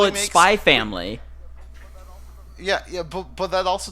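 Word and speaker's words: Spy x Family: issue a correction I found out today that in spy expand Leda spot the X is silent much like hunter hunter oh so so how you say it is just Hunter hunter instead of hunter x hunter so you say spy family so I'm a personal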